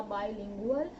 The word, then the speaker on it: bilingual: बायलिंगुअल इसका pronunciation होगा बायलिंगुअल। Spelling आप नोट कर सकते हैं, BIBILINGUAL, BILINGUAL, बायलिंगुअल।